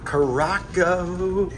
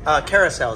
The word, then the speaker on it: carousel: And today we are in a Caraco, carousel is the way it's pronounced. Yes. I say Caraco, you say carousel, right?